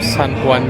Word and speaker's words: San Juan: Jadi kan tulisannya Juan, tapi bacanya tuh San Juan gitu.